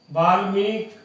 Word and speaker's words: वाल्मीकि: अब ये वाल्मीकि, वाल्मीक, वाल्मीक, वाल्मीक और वाल्मीकि। तो सही शब्द का अगर जो उच्चारण है तो इसका शब्द है वाल्मीक, वाल्मीक, यानी कै पे छोटी की मात्रा बोल रहा हूं, तो वाल्मीकि बी होगा।